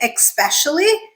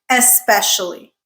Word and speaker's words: especially: It is spelled ESP, so it's especially. I don't know why some people say especially, but it is not, friends.